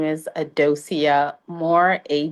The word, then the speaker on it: Adocia: So, your name is it pronounced Adocia? Uh, Dosia. Yes.